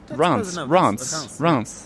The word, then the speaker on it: Reims: everyone at home France RS that's Rance yeah doesn't doesn't work